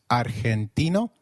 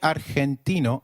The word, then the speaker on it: argentino: Did you notice that Argentino is pronounced as Argentino? In Spanish, G, when followed by E or I, is pronounced like a throaty H. So try saying Argentino again. Argentino.